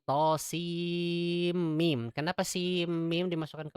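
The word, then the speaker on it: طسم: Nah, ini bacanya bukan to sama. To sama, salah. Karena orang Arab menyebutkan sin ya sin, mim ya mim. Jadi bukan to sama, tapi to sim mim.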